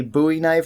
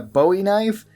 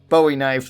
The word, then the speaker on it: Bowie knife: game and people wondering why I call it a buoy knife and not a Bowie knife and usually people cite the reference of David Bowie which kind of makes sense because it is spelled the same way but this knife is named after Jim buoy who fought at the Alamo that would be the correct way to say it however if you want